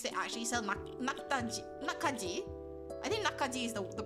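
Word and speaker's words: 낙지: of those markets they actually sell I think nakaji is the pronunciation and it's basically like uh like live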